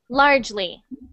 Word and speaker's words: largely: next one largely so instead of largely it's just two syllables so you just say large lee largely largely perfect good good um